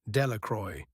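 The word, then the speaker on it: Delacroix: The villagers pronounced this name Delacroy, eventually made a great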